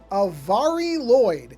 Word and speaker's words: Mari Lwyd: Mari Lwyd is how that is supposed to be pronounced.